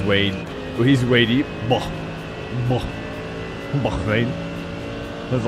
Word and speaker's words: Bahrain: Welcome in from Bahrain, by the way. That's cool. Bahrain.